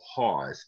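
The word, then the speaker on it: Haas: a man by the name of h o hawes h-a-a-s in pennsylvania german a haws is a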